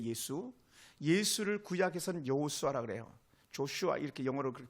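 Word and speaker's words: Joshua: 신약으로 말하면 예수에 예수 예수를 구약에서 여호수아 그래요 조슈아 이렇게 영어로 그렇게 발음하는데 예수 어이 여호수아는 아 여호와께서 구원하셨다 하는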